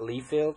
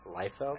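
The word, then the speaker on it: Liefeld: Rob life yep and his name is leld not leafield it is leld we're we're here to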